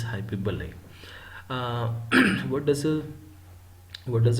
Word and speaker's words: hyperbole: forward hi to Ballet I have already students pronouncing this word as hyperbole please make sure that this is not hyperbole this is hyperbole what does a what